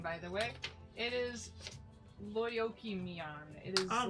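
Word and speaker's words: Lyokymion: It is Lyoki-mian. It is I'm like Gonna basically need to April. spell that. Okay. Lyokymyon. Basically April. Lyokym. ION. Lyoki-mian.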